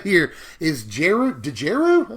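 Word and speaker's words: Djeru: this right here is jeru deju I just call it J's resolve I'm going assume that D is silent it's one white Mana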